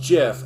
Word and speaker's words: GIF: invented uh doc gifts and said they're pronounced jeff and my you took 20 years too little too late and if it's short for graphic interface then it's it's hard g so that makes a